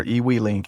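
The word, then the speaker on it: eWeLink: So, we're now ready to go ahead and add them to our EW link app. And this is the it's spelled EWE L I N K.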